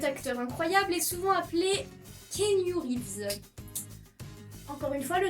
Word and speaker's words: Keanu: Son prénom, c'est comme pour Hermione, il faut diviser en plusieurs syllabes. Son prénom, c'est Keanu. Keanu.